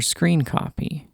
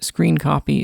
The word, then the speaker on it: scrcpy: Now, on your computer, go to the GitHub page for screen copy shown here or linked in the video description. Note, screen copy is spelled SC CR C P Y.